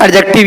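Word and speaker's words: adjective: एडजेक्टिव। ये सब पता होना चाहिए। एडजेक्टिव के बाद क्या है? नाउन आवत है, ठीक। एडजेक्टिव के बाद भैया नाउन, वैसे का बड़ा थे एडजेक्टिव, डी साइलेंट रहा था।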